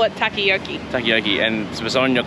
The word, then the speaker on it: takoyaki: It's actually takoyaki, right? But I call it takayaki.